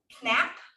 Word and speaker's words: Knapp: his last name wrong, Knapp, Okay, I think. He actually spoke at our team meeting, so a lot of the Oh, people Brian Knapp. here. Brian Knapp, Okay, Silent K.